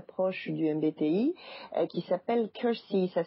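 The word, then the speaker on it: Keirsey: de manière très proche du MBTI qui s'appelle Cury ça s'écrit k e i r s y il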